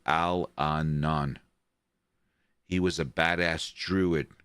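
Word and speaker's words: Allanon: series by Terry Brook it's pronounced Al Anan he was a badass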